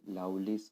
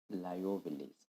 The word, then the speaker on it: Liouville: fundamental theorem of algebra you can pronounce it loudly's or lyoville's okay we are going with